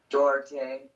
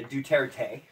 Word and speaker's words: Duterte: You got fucking Duarte. yeah, Duterte. I don't say his name right either because I want to say Duarte. Yeah, Duterte, right?